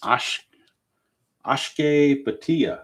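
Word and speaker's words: Akshay Bhatia: Ashke Batia. I think that's how it's pronounced.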